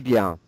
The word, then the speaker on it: bien: So it's a nasal sound on the IEN. And you're doing a good job not pronouncing the N, so it's like this.